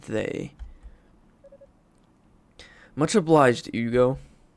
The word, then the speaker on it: Hugo: not they much obliged Ugo I'm just going to change the pronunciation on the Fly father Shion and you